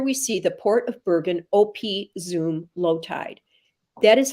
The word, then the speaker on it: Bergen op Zoom: netherlands and here we see the port of bergen op zoom low tide that is how you pronounce it i looked it up i would have said op but it's opi zoom so he he really um started to explore